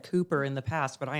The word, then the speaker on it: Cooper: Cuper. Yeah. No, I was speaking to a lady at the forum, and she said, it's just like a chicken coop.